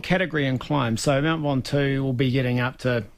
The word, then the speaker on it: Ventoux: Stage 15, and excuse my pronunciation here, Del, but is it Mount Ventoux? Mount Ventoux, Ventoux.